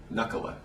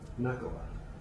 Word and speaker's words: Nakkula: Nakkula is the more Finnish pronunciation.